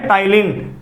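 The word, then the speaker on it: Ptyalin: या salivary amylase, और ये है टाइलिन, पी साइलेंट होता है, कभी ऐसे मत समझना इसकी स्पेलिंग गलत है।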